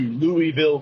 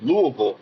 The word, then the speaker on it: Louisville: you're from the Midwest you don't go to Louisville Kentucky it's Louis Kentucky so there's just a a bit of